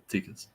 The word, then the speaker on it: Tikas: We got The Gallows Man, written by Brandon Ingram, art by Helen Bolton, cover by Thomas Tikas. Is that how you pronounce it? Yeah, Tikas.